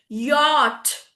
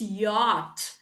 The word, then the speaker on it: yacht: Yak yak yan yan yo yogurt y-y yogurt yogurt yacht. Many many of us will read it as yach. Correct. What is that? Yach. No, it's not yach. It's yacht.